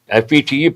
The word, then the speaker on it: fete: FETE pronounced as fete.